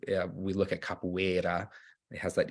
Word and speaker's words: capoeira: English and Portuguese so ours at the beginning of words are pronounced as H's however in the middle of words if it's a single R it's still pronounced like an R like we would in English so that's why it's capoeira and so there's an